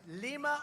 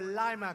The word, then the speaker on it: Lima: what do you like the word pronounced lima or lima because i saved lima